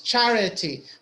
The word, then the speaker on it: charity: we say hurting okay so which one is louder which one is more stressed charity doe syllable maybe huh no I think tree Shari yes in the middle C correct so we have three syllables charity but which one is the strongest sure yeah the first one right so we say